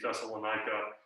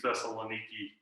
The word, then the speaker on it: Thessaloniki: so modern greek uh the pronunciation of several different vowels has shifted over you know the past two thousand years um and so uh our best guess at how things were pronounced around paul's time would be that would be thessalonica but it has shifted to thessaloniki um at this point